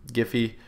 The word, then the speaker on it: Giphy: So Gify, spelled like this here, G-I-P-H-Y.